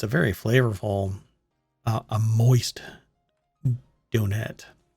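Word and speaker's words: Donettes: flavorful a moist donette it has two t's by the way since you're uh you might be listening to this via the podcast later um it's spelled d-o-n-e-t-t-e-s so it is a donet not a donut not a donut it's a donet anyway retailing for 249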